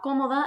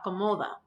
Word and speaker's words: cómoda: Make sure you put that stress on the first O because we do have a written stress mark here. So it's la cómoda and not la comoda.